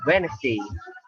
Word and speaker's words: Wednesday: om dan lem umumnya cinta letter-d di Wednesday TTG dibales Deni dianya nggak dibaca Wednesday Wednesday kemudian jelek saya enggak